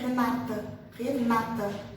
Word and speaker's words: Renata: A gente fala como se tivesse um acento no penúltimo, né? Renata, tá? E eles falam Renata, como se tivesse um acento na última sílaba.